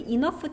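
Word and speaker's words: enough: 같은데 이너프가 어떤 뜻이더라 발음도 좀 특이하지 gh는 같이 붙어 있을 때 소리가 아예 안 나거나 아니면 소리를 내면 지금처럼 F 발음을 낸대 그래서 얘를 이렇게 발음하는 거고 얘는 형용사로 쓰일 때도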